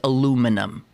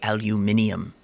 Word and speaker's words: aluminium: metal that Pittsburghers, know something about because it's aluminum. Or as the little royal baby will learn to say, aluminium. Don't the Brits say aluminium?